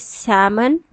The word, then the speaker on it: salmon: Alright, so this is salmon.